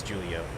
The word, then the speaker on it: Julio: Oh, it is Julio. Alright. Yeah, because there's a lot of Julios around here, and it's spelled with a J. J's like an H.